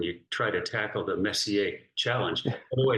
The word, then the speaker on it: Messier: grown-ups here when you try to tackle the Messier challenge way it's pronounced Messier Messier okay one of our very own snap students